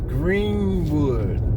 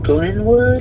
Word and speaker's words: Glenwood: Highway and then the next one is Greenwood I think I'm saying it wrong Glenwood Glenwood Glenwood okay now if you